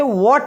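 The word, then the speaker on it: what: wall फिर व्हाट भाई हा के बाद में सर ये तो हा यहां पे साइलेंट होता है हा क्या होता है यहां पे साइलेंट होता है तो इसलिए इसे व्हाट पढ़ा जाता है क्या पढ़ा जाता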